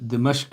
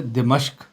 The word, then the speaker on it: دمشق: کے ساتھ جامع مسجد دمشق میں بیٹھا ہوا تھا۔ تلفظ ہے دمشق، بس اوقات جلدی میں دمشق بھی پڑھ دیا جاتا ہے، اصل تلفظ یہ ہے کہ دمشق کی مسجد میں